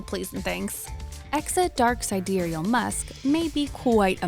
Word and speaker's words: Sidereal: And finally, sidereal, pronounced sidereal, is the true time of the universe, star time, deep space time, not our relative Earth time.